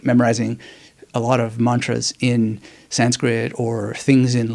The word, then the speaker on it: mantra: means now some sanskritist will say it's not Mantra it's Mantra and you know I'm not really a perfectionist